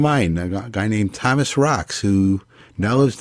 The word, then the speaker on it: Racz: So now we're joined by Thomas Racz. That's how he pronounces his last name for those who are interested.